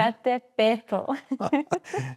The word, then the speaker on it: Popocatépetl: You were in the Popocatépetl that you pronounced perfectly well. Congratulations. Popocatépetl.